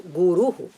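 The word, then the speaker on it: गुरुः: So, Guru, if you take, please do not lengthen the Guru or something and all. We cannot say, because the meaning is what the meaning conveys. One who removes the darkness is completely gone. So, Guruhu, that should be the correct pronunciation.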